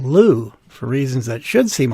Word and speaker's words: Looe: Shouldn't the name be pronounced Lua or Louis? No way it could be called Looe, for reasons that should seem obvious, but it turns out that's exactly how it's pronounced.